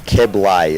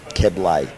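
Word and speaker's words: Keblé: So that's Keblay. It's got an acute on the last E like cafe. Keblay.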